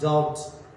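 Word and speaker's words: debt: double C यू एम सकम यानी मर जाना डॉट डी ओ यू बी टी डॉट यानी संदेह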